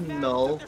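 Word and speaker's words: Knull: null he fli now it pronounced null but it with a oh like k m u l l or something yeah I think I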